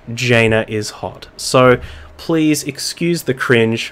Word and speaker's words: Jainaishot: if I realized that someone in chat mentioned that it is in fact Jana is hot so please excuse the